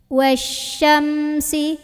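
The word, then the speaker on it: وَالشَّمْسِ: Dari wa masuk ke syin. Syinnya sebarin angin ya. Punya sifat namanya tafasi. Tafasi ya. Wasya. Wasya. Wasyamsi. Nah, selalu hati-hati sama huruf yang sukun ya. Salah satunya adalah huruf mim. Ini mim bukan huruf pantul, jadi gak boleh mantul. Wasyamsi. Bibirnya rapat lagi, jangan dilepas sebelum bunyiin si.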